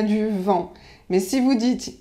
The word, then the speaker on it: vent: mais si vous dites il y à du vin alors là c'est pas tout à fait pareil et on va vous regarder comme si vous étiez un peu bizarre un peu illuminée comme on dit un